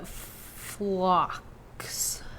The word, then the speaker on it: phlox: that's going to pop up everywhere called the phlox. I don't know if I said that right. It's PHLOX. I am horrible at pronouncing things.